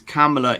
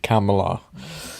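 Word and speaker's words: Kamala: India for many years camela is an Indian word so I just say C it actually means Lotus so so you pronounce it like a camel with an a camela well that's the way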